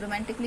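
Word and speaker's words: romantically: जैसे म्यूजिकली तो म्यूजिकली में हमारा ए है साइलेंट लेटर रोमांटिकली रोमांटिकली में हमारा जो है ए है हमारा साइलेंट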